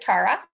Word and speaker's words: Chara: first name and actually I do pronounce it Cara that's fine I'm I used to be so good at correcting people when I was young complacent but yeah it is Chara thank you for the